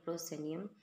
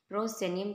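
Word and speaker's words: proscenium: होती है मंच पर उसे हम कहते हैं प्रोसे नियम प्रोसे नियम कहते हैं पी आर ओ एस सीई एन आई यू M spelling अरन के लिए भी इंपोर्टेंट है वर्ड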